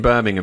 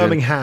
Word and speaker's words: Birmingham: Yeah, So he's pronouncing the H in Birmingham as well, which might be a cultural decision. Birmingham.